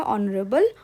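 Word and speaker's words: honorable: हां N vowel sound सही है क्योंकि हमारा ऑनरेबल ओ से प्रोनाउंस हो रहा है।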